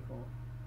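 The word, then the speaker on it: Corps: You don't pronounce the P in core.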